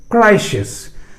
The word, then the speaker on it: crises: जैसे ही बहुवचन में आप उसको लाएं तो IS के I को E कर दें और अब लास्ट S का प्रोनाउंसिएशन शामिल हो जाएगा. Hence CRISES क्राइसिस.